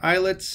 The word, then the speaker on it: islet: Those pancreatic islets, or islets of Langerhans, and it's pronounced islet, right? It's not island, so it's not islet.